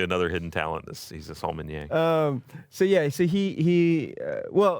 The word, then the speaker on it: sommelier: He's a sommelier.